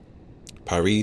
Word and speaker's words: Perry: back it's very stressful Perry to rhyme with the Barry like Parry Island beach